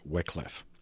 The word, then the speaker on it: Wycliffe: an Oxford academic named John Wycliffe, W-Y-C-L-I-F-F-E. I've also heard it pronounced Wycliffe, who lived from 1324 to 1384.